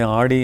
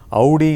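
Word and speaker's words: Audi: இவர் இருந்திருக்கிறார் என்னுடைய நண்பரிடத்திலே ஆடி என்று நான் சொன்னபோது ஆடி என்று சொல்லாதே அது தவறு ஆடியாவது அமாவாசையாவது அவுடி என்று தான் சொல்ல வேண்டும் என்று என்னை திருத்தினார் எனவே அவுடி என்பதுதான் சரியான உச்சரிப்பாக தோன்றுகிறது அந்த அவுடி காரை பற்றி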